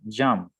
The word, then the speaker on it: jumped: This, okay, this one, jumped. Jumped. O sea que la P ahí como que no suena mucho.